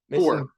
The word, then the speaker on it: Kuhr: Kuhr.